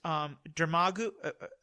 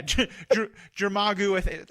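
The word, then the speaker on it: Dormammu: that he defeats Dermagu, how do you pronounce that? The big creature? Is it? Yeah. Yeah, that one. Yeah, Jermagu. I'm getting it wrong, and people are yelling at me for being a filthy casual.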